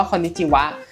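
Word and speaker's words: こんにちは: อย่าง เช่น อ่ะ พอ เรา มา เจอ คำ ว่า คอนิจิวะ มัน เขียน ด้วย ฮะ ก็ จริง แต่ ให้ เรา อ่าน ว่า วะ นะ อะไร เงี้ย มัน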